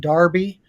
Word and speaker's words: Derby: original versions of the Oaks and Darby that's how you say it over in England that'll be at Epsom